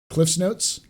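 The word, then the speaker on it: CliffsNotes: You know all about Cliff Notes, Paul, right? Cliff's Notes. Cliff Notes, yeah. It's called Cliff's Notes. It's not Cliff Notes.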